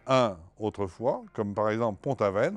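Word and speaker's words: Pont-Aven: on disait Pontavin et qui ont été euh rendu célèbres Ponte Avenes bien sûr de Pontaven et par Gogin. Ce qui fait que à la fin du 19e siècle, ces noms ont été à nouveau empruntés non pas par les francophones de Bretagne comme pour les noms précédents, mais par les Parisiens et qui eux ont prononcé pontaven comme il prononcent Boven.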